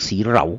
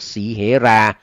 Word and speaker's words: สีเหรา: ครับ สีเหรา นะ ครับ บาง คน อ่าน ว่า เปี๊ยก สี เหลา นะ ครับ ไม่ ใช่ นะ ครับ เป็น เปี๊ยก สีเหรา อ่า ซึ่ง เป็น อ้าย บ่าว